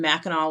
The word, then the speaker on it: Mackinac: they were during the War of 1812 and Mackinaw was the place that they were talking about